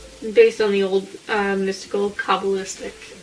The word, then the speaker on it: Kabbalistic: Based on the old mystical Kabbalistic wisdom, it's like Cabal.